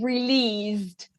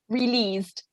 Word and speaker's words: released: one you would say released you don't pronounce the e released trenches nice perfect and